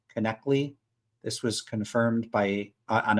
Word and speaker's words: Knechtle: By the way, everyone gets their last name incorrect. It's pronounced connectly.